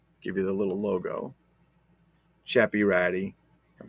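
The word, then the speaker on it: Ceppiratti: logo chappy ratty and for those who don't speak italian val after the letter c is pronounced ch like church not that that some people do on their videos trying to talk stuff and saying sepirati because they're not because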